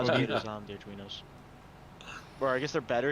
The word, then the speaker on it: Arduino: Oh, Arduino. I missed the R there. It's Arduino. well, it's spelled slightly wrong. I think it's ARD.